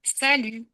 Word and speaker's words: salut: petites syllabes au salut deux syllabes et la deuxième allongé pour marquer le fait que en français bah la dernière syllabe est plus longue.